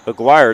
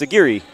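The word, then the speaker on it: Aguirre: Aguire. It's not aguire. It's a giri.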